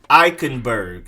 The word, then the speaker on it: Eichenberg: next up you have offensive tackle lee um eichenberg lee um eichenberg liam likenberg then next up